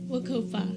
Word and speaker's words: WCOPA: Wakopa.